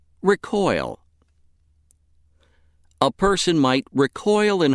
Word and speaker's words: recoil: If word 13 is being used as a verb meaning to shrink or to spring back, it is pronounced recoil. Recoil.